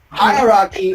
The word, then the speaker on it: hierarchy: First syllable and pronounce the word, please. Okay. Hierarchy. Hierarchy. Very good.